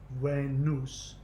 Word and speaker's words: Venus: that's a Latin word Venus in the Latin Venus is pronounced when use so the V is pronounced like a W and the the E is pronounced a and the us sound right there are the u.s. spelling and sound right there being way noose that US is just